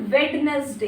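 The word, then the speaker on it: Wednesday: उसके बाद वेडनेसडे।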